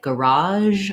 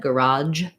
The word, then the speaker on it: garage: Some people will pronounce that with a j sound instead, garage. So that is also an acceptable and correct pronunciation, but in a lot of people's speech, garage comes from the French, the zh sound in French.